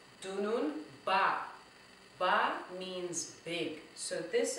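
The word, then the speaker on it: dununba: So let's try to see how many syllables we have in dunun ba. Okay, let's try that again. Dunun ba. That is D-U-N-U-N-B-A. Dunun ba. Let's go. Dunun ba. That's 3 syllables.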